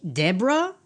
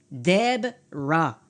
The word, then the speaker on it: Deborah: Alors, quand je vois Deborah, mon cerveau ne prononce pas Deb-ra. Il perçoit une brève rencontre de voyelles, et ça devient De-bo-ra, très propre, très respectueux, mais complètement faux.